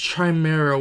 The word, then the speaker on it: Khimera: just keep on joking camara chamera i don't know actually it's pronounced chimera which makes a lot